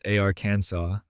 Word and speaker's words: Arkansas: The final S is silent because French. The emphasis is on the first syllable because that's just how it's done.